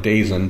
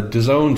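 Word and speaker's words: DAZN: all caps Daz n which looks like daisen but it's pronounced as own I guess the disown streaming service which had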